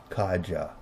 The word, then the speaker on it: Kaeji: The vast majority of those of the Anunnaki were inbred here from the planet Kaeji, pronounced Kaja, from the constellation Orion.